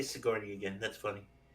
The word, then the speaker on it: Sigourney: She wanted to be in an Alien movie with Sigourney Weaver. That's all she wanted. And congrats to her, but the problem is her character is kind of whiny. Say Sigourney again. That's funny. Sigourney.